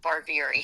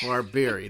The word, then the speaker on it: Barbieri: I say like beer in the bar, Barbieri. Barbieri, there you go.